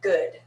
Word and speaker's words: good: sound very american sound and this you just have to memorize because it's not good like room it's good watch the kind of square shape that versus uh good so let's try that